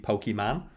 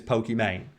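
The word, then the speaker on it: Pokimane: about i know that he's supposed to be pokey man cause her name's iman i think she's from like tunisia or something but everyone everyone mispronounced it as pokemane anyway there's like a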